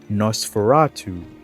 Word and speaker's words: Nosferatu: The new class would be pronounced Nosferatu.